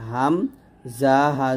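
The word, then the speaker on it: همزة: দেখুন হামজা উচ্চারণটা আমরা অনেকে ভুল করি। এটা বানানটা দেখুন। হা মিম জবর হাম জা হা জবর জাহ। হামজাহ হামজাহ হামজাহ এরকম তারপর ইয়া জিব্বার মধ্যখান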